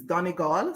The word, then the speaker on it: Donegal: so i'm from donegal the pronunciation may vary but as a child i was taught that it is donegal so it is a